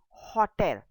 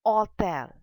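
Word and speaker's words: hôtel: keep in mind h if we have h o t e l hotel in english it will sound as hotel but in french it is all tell because h is silent in french language hence when you have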